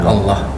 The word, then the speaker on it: Allah: baik ee apa ee dalam pengucapan Allah diucapkan lafaznya diucapkan Allah bukan Allah Oh iya siap Allah